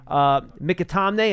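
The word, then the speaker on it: McAtamney: If you guys think, out of an abundance of caution, they could have elevated Mikatamne, and that is, by the way, how you pronounce the last name.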